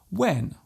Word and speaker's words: when: they might say whip there is actually no need to pronounce the H so strongly just let the sound leave your lips naturally when what Christy whip